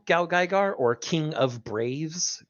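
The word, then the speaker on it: GaoGaiGar: once a year every year H it is G gar g gar I have not seen it g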